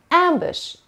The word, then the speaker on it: ambush: Ambush. Ambush. دقت کنین پرونانسیشنشو. اولا که این صداشو ببینین. راجب این صدا همش کامل باهاتون صحبت کردم. و اینم به این صورته. بوش نمیگیم. Ambush.